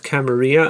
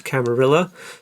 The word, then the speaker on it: Camarilla: The proper way of pronouncing that word is Camarilla. I've decided that all the people in London mispronounce it as Camarilla because that's the very English way of doing things.